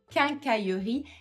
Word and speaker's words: quincaillerie: C'est un mot qui est assez long aussi, qui a les lettres Q, qui a beaucoup de son que que et les deux L avec le Y. Donc on va y aller tout doucement.